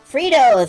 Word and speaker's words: Fritos: Fritos, rhymes with Cheetos.